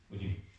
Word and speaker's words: goyim: La palabra gentiles proviene de la palabra hebrea goyim, así se pronuncia, goyim, que significa los pueblos del mundo que no son judíos.